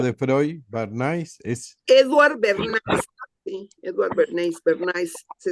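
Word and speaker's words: Bernays: Es Eduward Berniz. Sí, Edward Berne Berniz. Se escribe B E R N.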